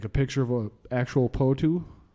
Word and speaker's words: potoo: that I'm not too sure but the mighty potoo that's big bulging yellow eyes like this is